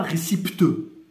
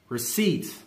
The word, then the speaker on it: receipt: Me sort même pas récipiteux. On dit receipt.